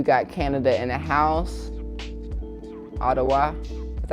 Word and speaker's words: Ottawa: Ottawa, that's how you say it.